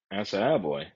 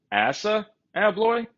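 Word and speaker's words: ASSA ABLOY: And I've actually heard stories of other locksmiths who just refuse to do anything with Asa Abloy.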